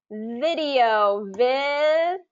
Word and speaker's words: video: So the V sound is really where it tends to be tricky. I hear that a lot of my students kind of video with a W instead of video.